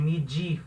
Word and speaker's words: medir: hora de pronunciar né na hora da pronúncia esse de ele não tem som do dedo português de medir né de esse de assim não é não existe espanhol mas falar medir de